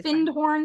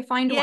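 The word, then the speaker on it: Findhorn: know how you pronounce some people say fin horn some say fine horn yeah oh that finded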